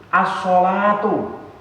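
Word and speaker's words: الصلاة: As-sholatu. As-sholatu. Di sini juga ada alnya. Alnya juga al-syamsiyah, tidak dibaca al tapi dibaca as-sholatu. Ini kalimah apa?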